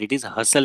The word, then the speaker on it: hustle: Now, hustle and bustle, it is not hustle, T is silent. So you will say that it is hustle and bustle.